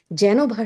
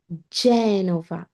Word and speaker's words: Genova: জেনোভা শহর না, জেনোভা, জেনোভা।